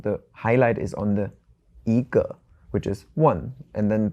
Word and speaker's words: 一: But if you have the word "一" alone, it's first tone.